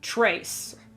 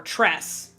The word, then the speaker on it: tres: Like in Spanish, three is tres. It's T-R-E-S. Tres. But in an American accent, you would say trace. Or tres. Or something like that. Even though it's pronounced tres. The E makes an eh sound, like the EH.